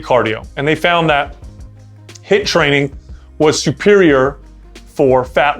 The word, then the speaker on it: HIIT: right what's up guys let's talk about hit training now hit stands for it's spelled HIIT it stands for high-intensity interval training now about probably about